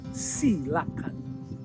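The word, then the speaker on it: coelacanth: Ikan raja laut koelakan atau dibacanya silakan adalah ikon wisata kota Manado.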